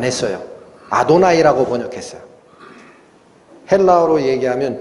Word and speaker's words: 아도나이: 그 주라는 이름이 아도나이라는 거예요. 아도나이. 이런 글자를 구약 성경에서 읽을 때 여호와라고 안 읽어요. 이스라엘 사람들은 뭐라고 읽어요? 아도나이, 주라고 읽어요.